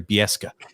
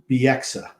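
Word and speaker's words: Bieksa: pronounce his name i remember though don cherry biesca how he pronounced his name yes it's biexa is his name don sherry always pronounced it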